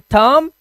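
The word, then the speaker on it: thumb: तो यहां पर कॉम बम एंड थंब डम। ठीक है? ऐसे एम के बाद अगर बी आता है तो बी को हमें क्या करना है? साइलेंट करना है।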